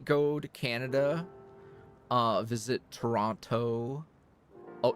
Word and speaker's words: Toronto: to Canada uh visit Toronto OH Toronto sorry don't pronounce the second T um cuz there's a